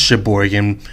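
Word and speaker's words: Cheboygan: It's pronounced Sheboygan, but it's a CH.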